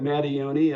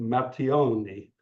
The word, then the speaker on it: Matteoni: Well, I say it Matteoni, other people say it Matteoni if you're Yeah, from Italy. yeah. That's what I was trying to do. The Matteoni.